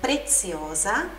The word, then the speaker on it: preziosa: Preciosa, a pronúncia do Z também é explosivinha. Preziosa e fragile.